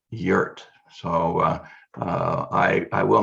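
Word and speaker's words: Jurt: name is spelled j-u-r-t so i'm inclined to say jert but of course that's not correct she's german and so that should be yurt so uh i i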